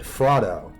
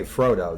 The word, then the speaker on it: Frodo: have known Tolkien but she said that her and her generation pronounced it frotto they didn't say Frodo they said frotto so my grandparents generation